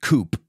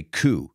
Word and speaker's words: coup: We don't pronounce it coup, we say coup.